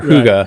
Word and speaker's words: Hygge: And they're like, I've been saying it wrong forever. Like they are paying members before they know if how to say it. If I hadn't heard you say it, I would have never got that right. And exactly. it's a Danish word, doesn't translate to English,